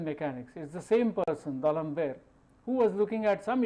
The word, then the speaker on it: D'Alembert: You should not pronounce it as if it is an English word. So, D'Alembert's principle in mechanics is the same person, D'Alembert, who was looking at